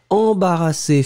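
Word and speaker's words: embarrassée: And as you can see, the feminine form, as usual, you will have to add this final that won't be pronounced. So, embarrassé, masculine form. embarrassé feminine form will be pronounced exactly the same way, but then you will write it slightly differently.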